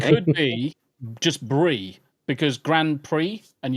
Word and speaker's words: Grand Prix: Or it could be just Brie, because Grand Prix, and you don't pronounce the X, it's just an E sound.